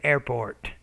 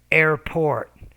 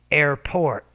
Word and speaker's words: airport: notice when you're saying airport so the p the p sound you're not pronouncing with enough air it's airport airport airp port ask their